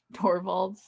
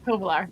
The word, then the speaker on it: Tovolar: There's no more Torvalds at home, I guess. Is that how you say it? Yeah. Torvald? Tovolar? Tovolar, thank you.